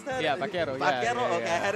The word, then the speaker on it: vaquero: Can you help me pronounce that? Yeah, vaquero.